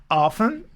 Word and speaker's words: often: I often watch TV, or I can say I don't, and then often. Do you remember? We have got two pronunciations for often. Often too, it is possible.